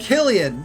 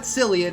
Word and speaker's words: Cillian: And we have Killian, not Cillian, even though it's spelled with a C, portrayed by Luxor, bunch of numbers behind that, aka John.